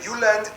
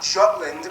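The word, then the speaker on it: Jylland: discover new or Wikipedia I'm going to pronounce the location names in their proper Danish context so here we go Denmark is made of the you land not Jutland peninsula that connects to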